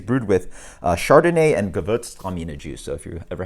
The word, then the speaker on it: Gewürztraminer: but it is brewed with uh Chardonnay and gavotes Juice So if you've ever had an issue of pronouncing that um there you go so yeah